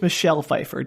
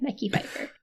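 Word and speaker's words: Mekhi Phifer: I believe it's Michelle Fefeifer, Daniel. It is not Michelle Fefeifer. M E K Hi. Mecky Feifer.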